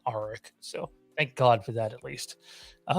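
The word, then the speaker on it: Arryk: Yeah, the one with the A in the show, I believe they're pronouncing Arik.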